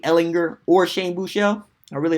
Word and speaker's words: Ehlinger: i don't really trust Sam hard G Ehlinger or Shambu show I